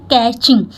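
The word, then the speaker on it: catching: इसकी प्रोनंसिएशन होती है कैचिंग अब देखिए यहां पे ये जो टी है वह साइलेंट है इसलिए सी ए टी से कै टचिंग नहीं बोलते हैं इसको पढ़ते हैं कैचिंग क्या पढ़ते हैं कैचिंग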